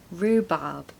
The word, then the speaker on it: rhubarb: it went quite well pronunciation tip you want to stress the first syllable Rue there's no h sound it's just a double o sound so Rue rhubarb no R sound in the second syllable rhubarb number six bouquet bouquet